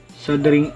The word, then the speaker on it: soldering: muna natin ang ating sing iron sabi ni Google silent L sing iron at pag mainit na